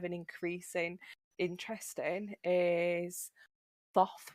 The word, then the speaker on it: Thoth: increasing interest in is Thoth, which is probably pronounced Tahooti originally.